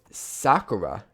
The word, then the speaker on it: sakura: And then I'm going to use these sakura, as I've been told it's pronounced, sakura leaves, to add some highlights, like some bushes, that kind of thing.